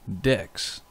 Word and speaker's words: deque: to be going over decks yes that's how it's pronounced as deck as in a deck of cards so the first thing